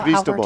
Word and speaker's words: Cristobal: Cristobal.